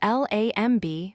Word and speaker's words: lamb: Another example is lamb. It's spelled L-A-M-B, but we say it as lamb. Again, the B is silent.